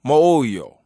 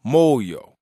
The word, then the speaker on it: moyo: So in the Kikongo language, we have the word moyo or moyo and it's spelled m o y o and that means belly.